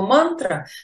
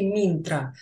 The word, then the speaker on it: мантра: до нас дошли знания потому что слово мантра на самом деле минтра так вот почему ментора